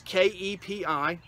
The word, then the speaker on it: kepi: It's K-E-P-I, pronounced kepi, and it is a designed, like I said, from the French, and it was a useful military hat of its era.